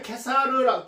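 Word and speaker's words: Caesar: 어, 가이우스 줄리어스 줄리어스 시저 시저라고도 발음하고 이제 케사르라 케사르라고도 하는데 이제 영어 발음은 이제 시저라고 발음합니다.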